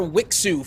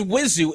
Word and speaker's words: Wizu: pronunciation of their names I was calling that player wixu for the longest but it's it's wizu and thank you now